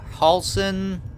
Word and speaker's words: Halsin: On the next episode, I'm gonna go talk to Halsin. That's how you say it. We'll talk to Halsin.